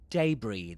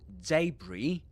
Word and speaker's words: debris: And debris, that's a difficult word. I mean, it's not pronounced the way you'll expect it. So, this is the spelling is uh d e b r i s and you pronounce it as, for example, you